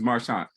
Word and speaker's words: Marchant: Is the T silent? Oh. Yeah. It's Marchant.